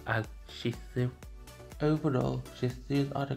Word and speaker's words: Shih Tzu: Shih Tzu has a weird name when people pronounce the name as Shih Tzu, when it's pronounced as Shih Tzu.